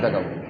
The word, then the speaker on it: ت: বলেন সহি করে বলেন জিভের ডগা উপরে দাঁতের গোড়া তা তা তা তা কয় নুক্তা কয়